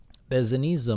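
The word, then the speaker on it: Besednice: And if you look up here at the top, Bezaniza moldavite, pronounced like pizza, Bezaniza. So the Bezaniza moldavite is said to be much more direct compared to quote-unquote normal moldavite.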